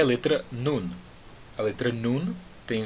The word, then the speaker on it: Nun: Nun. Pronuncie aquele N. Termine a pronúncia da letra nun com a sua língua em cima na boca, fazendo aquele som do N.